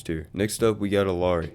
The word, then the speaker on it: Illari: Next up, we got Illari, or I guess how you're supposed to pronounce her, Iari.